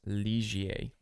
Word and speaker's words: Ligier: So this one here, this is actually pronounced Ligier.